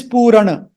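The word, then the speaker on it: पूरण: Purna. That Purna means complete. But this Purana, this is not Purna. It is Purana.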